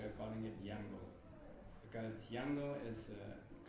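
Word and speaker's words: Yangon: of rangun we are calling it yango because yango is a correct pronunciation of the word rangun is a angiz pronunciation so um my Early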